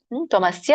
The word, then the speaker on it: ತ್ವಮಸ್ಯ: ಆಮೇಲೆ ತ್ವಮಸ್ಯ ಅಲ್ಲಿ ಮತ್ತೆ ತ್ವಮಸ್ಯ ಅಂದ್ರೆ ತ್ವಂ ಅಸ್ಯ ತಮಸ್ಯ ಕೂಡಿ ತ್ವಮಸ್ಯ ವಿಶ್ವಸ್ಯ ವಿಶ್ವ ವಿಶ್ವಸ್ಯ ಪರಂ